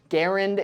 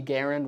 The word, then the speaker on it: Garand: exact reason for why people first started saying Garand instead of Garand I'm guessing just because that's how it makes more sense to read it in English Garand is the French Canadian pronunciation John C Garand was French Canadian so that makes sense but Garand is just a bit more natural for a lot of Americans to say but regardless of how